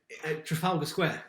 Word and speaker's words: Trafalgar Square: I cannot pronounce it. Yeah, Trafalgar Square. Trafalgar.